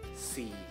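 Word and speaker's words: สี่: Sehingga kelas tinggi saat dikasih my egg itu akan siang egg. Jadi dibacanya si. Si. Si. Sekali lagi, si. Kalau si tanpa my egg itu artinya warna. Oke? Okay? Jadi ini si. Si. Hati-hati ya, beda nada, beda arti.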